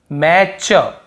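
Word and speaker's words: match: पढ़ रहे मैच यहां पर पर देखिए आप मैच मैच यहां पर भी टी मैट चन्ही हो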